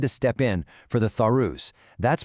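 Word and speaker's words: Tharus: Recently, the Lucknau bench of the Alabahad High Court had to step in for the Thorus. That's pronounced t h a r u s a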